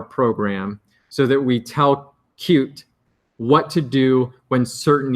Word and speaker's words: Qt: I keep calling it QT but officially it's pronounced cute I never got in